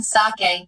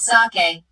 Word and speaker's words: sake: cracks narrow gaps opening sake a popular Japanese drink saw is pronounced like bah in father and Kay rhymes with expensive costly being his way